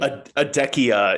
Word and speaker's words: Adekia: Am I saying Attica? Can you tell me the pronunciation, the name? Adekia is the fictional Adekia.